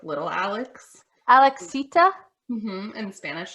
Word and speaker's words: Alex: Like, am I not enunciating enough? It seems to really be a problem. Alex. And then they say Alice, and I go, I guess.